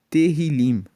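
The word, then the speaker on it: Tehilim: Tanto que na Bíblia dos original, o livro de Salmos, ele é chamado de terrilim. se escreve t e h i l i m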